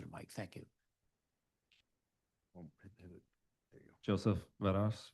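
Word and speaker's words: Varas: Joseph Venos.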